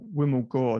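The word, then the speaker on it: Vimal Gor: ago it's with uh wim gore that's wimble but it's spelt with a v v i m l uh g o r i actually put out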